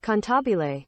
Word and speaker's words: cantabile: But according to Google, it is not pronounced Cannibal, it is pronounced Cantabile.